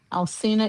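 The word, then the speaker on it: Alcina: You can Google my name, Alcena. Alsina is spelled A L C I N A.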